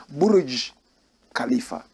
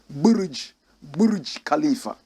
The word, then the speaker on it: Burj Khalifa: Correct pronunciation, Burj Khalifa. Burj Khalifa.